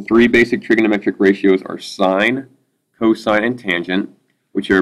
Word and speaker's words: sine: next couple weeks, but this is not sin. This is, we call it sine. I know it's spelled sin, but for this math class, every time you see that, it's just sine.